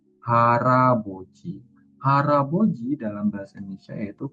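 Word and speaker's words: 할아버지: Hal aboji ya, Robun. Maka bukan hal aboci dibacanya, tapi siilnya ini mengisi bagian vokal yang ada di sini. Jadi di sini dibacanya bukan hal aboji, tapi harabi. Haraboji.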